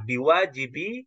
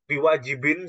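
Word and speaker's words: بِوَاجِبِ: ya anilqiami dari melaksanakanwajibiiaika seperti itu bacanya biwajibi Haqi Jadi kenapa kok bukan biwajibin seperti yang dibaca oleh Bapak tadi karena dia posisinya sekarang mudof mudof itu tidak boleh di di ditanwinkan boleh ditanwin jadi hqi itu tetap jadi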